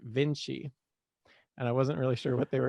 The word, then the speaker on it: Vinci: So in the number the random number generator, it was just one off from a 1-star review, and their review was, it's pronounced Vinci, and I wasn't really sure what they were talking about.